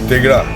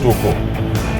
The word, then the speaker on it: Tegra: So now we are traveling towards, I have left, we are just now in Toko, Tegra, which Yungsang mispronounces as Toko.